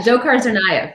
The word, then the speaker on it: Dzhokhar Tsarnaev: say that how do you say that yeah dzhokhar tsarnaev yeah the sentencing you uh you report this